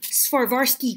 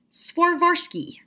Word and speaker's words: Swarovski: I got some Swarovski crystals. That's not how you pronounce it. Swarovski. I'm pretty sure I'm saying that completely correctly.